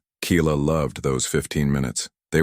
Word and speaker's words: Keila: And even those, they pronounced it wrong. Keela. Keela with a Y? No. Keela with I.